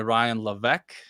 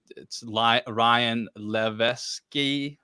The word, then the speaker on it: Ryan Levesque: Yeah, for surveying and customer interviewing in particular, I would read Ask by Ryan Levesque. It's Ryan Levesque, or that's how it's pronounced, or You written put down.